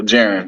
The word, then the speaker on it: Jaron: So when you think of Jaron, Jared. Like Aaron, but with a J. So Jaron.